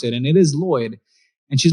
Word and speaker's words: Lloyed: this e in my name because nobody can pronounce it and it is Lloyd and she's like I always wanted you to